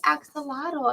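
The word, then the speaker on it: axolotl: And she's like, "It's an axelottle."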